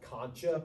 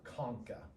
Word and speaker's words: concha: Superior nasal conka now it's spelled like you might want to call it Concha but they're conka those are superior nasal